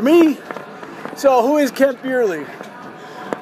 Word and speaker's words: Bierly: for me to say beerley beerly not bely not Burly it's b i e r l y for Christ's sakes beerly